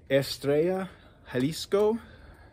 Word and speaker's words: Estrella Jalisco: popular one the estrella estrella jalisco i believe it's how that's pronounced if you speak spanish um if you want to speak uh traditional white guy estrela estrella jalesco so you know however